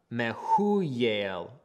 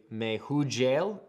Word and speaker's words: Mehujael: And then the Mehuyel, we would say Mehujael, but the J is silent. So that's Mehuyel.